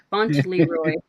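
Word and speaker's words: Fauntleroy: goodness Donald Duck's middle name is font Leroy font Leroy I'm G to spell it font L Leroy you said it right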